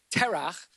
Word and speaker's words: Terach: But Terach, and you guys have to work on the ch sound, okay? Well, I think we're having an afternoon class this afternoon to work on that. So Terach was an idol worshiper,